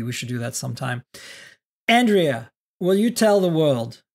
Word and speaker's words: Andrea: things you do okay Andrea is my name pronounced Andrea but I do love when Miriam pronounces it with a beautiful European accent I last month I